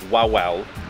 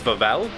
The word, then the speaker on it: Wawel: around the corner here, which to us reads as Wawel. If English is your first language, it was read as that, but in the Polish pronunciation, we think it's Wawel Castle. With a V, because they say the W's as V's.